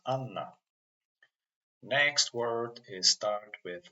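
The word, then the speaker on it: Анна: So Anna, actually this letter it's not H, it's pronounced like N. So this word pronounced Anna.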